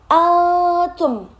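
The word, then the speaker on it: أنتم: Terus yang kedua itu di bagian antum ada di situ dilihat ada nun mati bertemu salah satu huruf ikhfa yaitu berupa ta. Jadi dibacanya samar antum.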